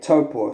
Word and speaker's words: Taupo: ready to go to lake taupo like toppo so i'll pronounce that correctly anyway they were going